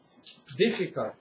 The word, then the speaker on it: difficult: 勉強してください。difficult。